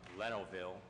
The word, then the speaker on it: Lenovo: advertising for bids to purchase up to 37 Lenovo computers, 5 docks, and 5 DVD players from Lenovo, if I pronounce that right.